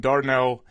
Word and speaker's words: Dardanelle: Well, you're coming to us live from the Lion's Den Golf Club there in Dardanelle, Arkansas.